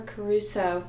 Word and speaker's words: Caruso: That's funny, because Barbara Caruso, that is how you say her name, is on my list of favorite narrators.